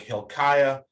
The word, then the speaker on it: Hilkiah: Generally, I's before A's are always Aya. So like Hilkiah, Eliakim, Hezekiah, that sort of thing.